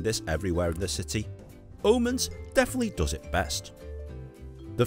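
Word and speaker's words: Aamanns: This is world famous Omens. Omens. Yes, the double A is pronounced as an O in the Danish language, just so you know.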